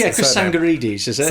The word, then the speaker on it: Tsangarides: Is Chris I can never pronounce his Chris surname. Tsangarides, is it? Tsangarides, yeah.